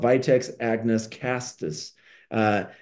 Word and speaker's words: castus: it's called Vitex Agnus castus uh Cactus no castus excuse me that that's